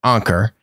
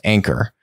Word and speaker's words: Anker: been talking about um i pronounce it anker i guess it's actually supposed to be pronounced anchor but whatever anchor anchor tomato tomato